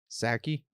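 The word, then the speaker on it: Psaki: i think it's uh a silent p sacky right like sake sure exactly she said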